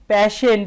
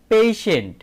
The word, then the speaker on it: patient: তারপরে আছে PATIENT, প্যাশেন্ট বলে থাকি আমরা সাধারণত, কিন্তু সঠিক উচ্চারণ হবে পেশেন্ট, অর্থাৎ এ এর উচ্চারণ হবে এই।